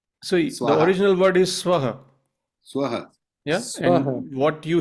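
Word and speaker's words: स्वाहा: say if you say omura so we say swah but many western renderations say swaha you see so could you say that again? Could you say that again? So the original word is swaha swaha.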